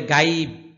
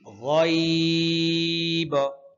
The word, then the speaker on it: غيب: হ্যাঁ, রহ রহ রহ রহমানা বিল গয়ব বিল গয়ব। অনেকে বলে গাইব, গাইব সম্পূর্ণ ভুল। আর শেষে কলকলা আছে, শেষে বায়ের মধ্যে কলকলা আছে। মনোযোগ দিয়ে শুনুন। বিল গয়ব বিল গয়ব ইন্নামা তুনজিরু মানিত্তাবাআয যিকর ওয়া খাশিয়ার রহমানা বিল গয়ব।